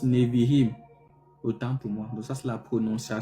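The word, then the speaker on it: נביאים: Donc ça se prononce Nevihim.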